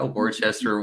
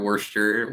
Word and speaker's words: Worcester: this uh podcast I didn't know how to pronounce Worcester I was like calling it worship yeah Worcester Worcester Worcestershire sauce conversation with someone I was yeah